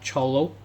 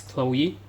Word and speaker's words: Chloe: So this is not cholo. So many people especially some pupils will pronounce as cholo. So this is Chloe.